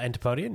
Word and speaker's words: antipodean: discovered the other day anti podian is that how you pronounce it K you would know uh antipodean yeah yeah that it means Australian